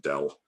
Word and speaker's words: del: people hav't seen it we pronounce it Dell um in um uh